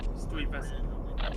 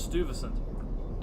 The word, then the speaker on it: Stuyvesant: Stuyvesant. Stuyvesant. Like Stewie from Family Guy. Ah. I guess. I always thought it was Stuyvesant.